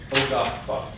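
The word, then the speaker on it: Ogahpah: So we'll go around, try to say it slow if you have trouble, but that last syllable, pah. Remember, that's that eagle, that's that cutting, it's that. So, O-gah-pah.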